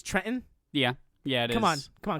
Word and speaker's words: Trenton: Detroit and Trenton uh I'm sorry you're mispronouncing that it's Trenton yeah yeah come on